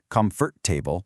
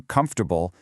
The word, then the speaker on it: comfortable: But, we do not say comfort-table or vegetable- table. Native speakers get kind of lazy and just reduce the sounds, entirely dropping whole syllables. We literally crunch it down to comfortable and vegetable.